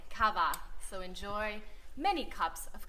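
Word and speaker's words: kawa: come up come up it's ka W a cava so enjoy many cups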